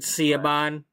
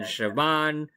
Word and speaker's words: Siobhan: By the way, if anybody's new to my channel, I pronounce it Ciabon. That's how Ciabon pronounces it in my story. So I don't care if anybody else is saying Siobhan, Shobin, whatever. It's Ciabon.